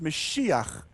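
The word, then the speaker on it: משיח: White Donkey the word messiah in Hebrew is pronounced mesiah the Messiah literally just means the anointed one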